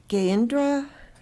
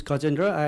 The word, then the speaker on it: Gajendra: Gayendra? I think I totally mispronounced that. I apologize. Hello, my name is Gajendra, and I'm here at 557 High Point Drive.